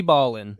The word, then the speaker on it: Ballin: pronounce it all right it's probably like Ballin or like no United States V Ballin it is definitely b-a-l-l-i-n so we we Ballin